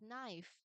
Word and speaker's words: knife: Say for example, another example is knife. Um remember how the knife is spelled out? It is like this, knife, right? So, it also starts with K N. And K is not pronounced.